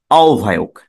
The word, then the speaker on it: আহ্বায়ক: এটার উচ্চারণ হলো আওভায়ক, আওভায়ক, আওভায়ক, আহ্বায়ক।